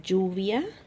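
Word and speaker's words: lluvia: through these flashbacks together let's pronounce it like Juvia you see Double L sound like Joe Lazo via Laluna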